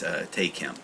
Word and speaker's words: Tae Kim: listened to his video he pronounced himself say is uh Kim T so I guess it is tkim uh not Tai I've been pronouncing him as ta Kim for the longest time I don't know why